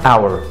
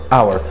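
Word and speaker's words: hour: ساعه اور. اور. غير كده فطبعا في الاتش عندنا بتنطق ه.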